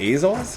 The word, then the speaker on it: Azov: Sea of Azov, I think it's pronounced.